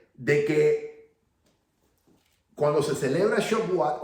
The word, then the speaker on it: Shavuot: Se escribe S-H-A-B chica U-O-T. Shavuot se pronuncia.